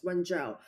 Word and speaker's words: Wenzhou: Yeah, I think your pronunciation is great. So it's Wenzhou.